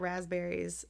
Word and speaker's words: raspberries: is spelled there's just no one says like the p and it looks silly Ras bear rasp like